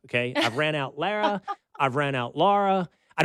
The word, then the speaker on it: Lara: Lara. I think you said it right. Lara.